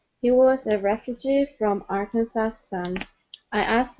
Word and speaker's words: Arkansas: this is a strange one okay it's actually pronounced Arkansas okay so the S at the n is not pronounced okay this is a state in the United States okay it it is Arkansas Arkansas okay one more time Arkansas Arkansas very